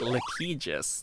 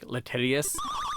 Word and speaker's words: litigious: game companies get really litigious litigious that's the word right I'm saying it right right it's not like latius litigious whatever the word